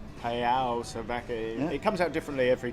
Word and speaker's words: Salvaje: And then Salvaje with the V, actually the V is pronounced a B.